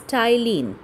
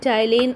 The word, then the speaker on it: ptyalin: It is given salivary amylase here, but in some books you will get it as ptyalin. P-T-Y, P is silent here. So remember, salivary amylase and ptyalin are the same thing.